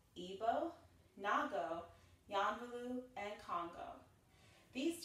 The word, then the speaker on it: Ibo: The first dance we're going to learn in this series is called Igbo, which is spelled I-B-O, and again pronounced Igbo.